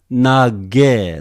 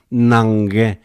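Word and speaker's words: Ναγγαί: Okay, here are two gammas here. Two gammas together. Some people pronounce nage, simply one gamma. Some people pronounce nange, nange, like English, Well, it's up to you, okay? I just prefer your nage, simply make it simpler.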